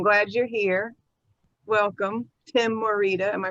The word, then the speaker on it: Morita: so i'm glad you're here welcome tim morita am i pronouncing your last name right yeah that's correct